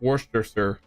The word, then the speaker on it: Worcestershire: not, because you don't actually say shire. You say sure. Yeah, it's pronounced Worcestershire.